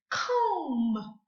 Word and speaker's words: comb: Let's say this word, comb. Comb. We do not hear the B here at the end.